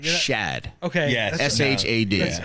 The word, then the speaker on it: Shad: And you're saying Chad, right? You're not- Shad.